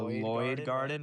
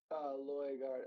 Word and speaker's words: Loy Gardens: Walking through the Lloyd Garden, right? Loy Garden, like Loy Garden in the. I've been saying it wrong.